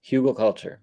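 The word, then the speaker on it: Hügelkultur: I've recently heard of a, correct me how I'm if I'm pronouncing it wrong, but a Hugel culture. Yes, Hugel culture.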